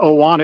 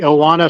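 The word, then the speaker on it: Ohana: is the circus solle I think they pronounce it oana it's a UA an a the oana circus solay it's going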